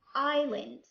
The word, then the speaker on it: island: بمعنى ما عندناش بزاف الكلمات، عندنا كلمات قليلة اللي فيها silent S like island, aisle, silent T.